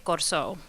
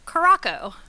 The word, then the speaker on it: Curaçao: of another former country, you would say Corso. How it gets pronounced at bars is Curacao. We'll come back to why in a little bit, but that's really because of the C with a tail.